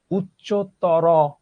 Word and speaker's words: উচ্চতর: এই দুইটা প্রত্যয় যখন থাকবে বিশেষণ পদের শেষে, তখন আমরা ও এর মতো উচ্চারণ করব। ঠিক আছে? কেমন? উচ্চতর, উচ্চতর গণিত, এইভাবে তো আমরা কেউ বলি না।